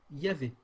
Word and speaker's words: Yahvé: Alors, ils ajoutent: d'après certaines données linguistiques, un grand nombre de spécialistes optent pour Yahweh ou Yahvé.